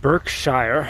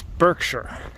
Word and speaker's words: Berkshire: an old English spelling with a new American pronunciation. It's actually Cheshire. And this area we're in, it's not Berkshire, it's Berkshire.